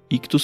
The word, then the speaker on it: Ichthus: Ictus se escreve ICHTHUS.